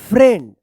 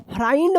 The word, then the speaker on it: friend: Road पढ़ेंगे, road, WROTE, wrote a letter to माई फ्रेंड। अब फ्राइंड मत पढ़िएगा, FRIEND, फ्रेंड।